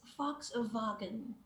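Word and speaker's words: Volkswagen: surprised it's letter b it's fox wagon all right that's how you pronounce this brand okay again it is a german word and fox means people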